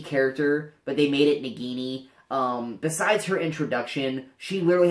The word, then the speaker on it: Nagini: It's the snake, Voldemort's snake, Nagini.